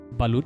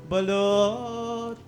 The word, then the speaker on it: balut: Before coming to the Philippines, people were already telling me to be prepared because of balut. Is that how you pronounce it? Balut?